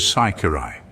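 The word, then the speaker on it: ciciri: The name of dried peas among the Sicilians was Saikirai. If the man pronounced the C with a chi sound, he was allowed to pass as being a Sicilian, but if he gave it an S sound, he was captured as being a Frenchman.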